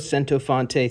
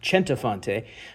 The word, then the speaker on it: Centofante: about the new Spyderco sento fonte 3 I think it might also be pronounced chenta fante I've heard it both ways uh this is a